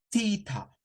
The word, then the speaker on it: theta: Pero en inglés se le dice theta. Theta. O sea, cambia la pronunciación.